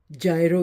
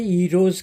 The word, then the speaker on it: Gyros: जिसको इंग्लिश में ग्रीक जायरो कहते हैं, GYRO। ठीक है, GYROS। लेकिन ग्रीक लोग जो हैं वो जी को प्रोनाउंस नहीं करते हैं, वो वाई से शुरू करते हैं, ईरोज़ कहते हैं।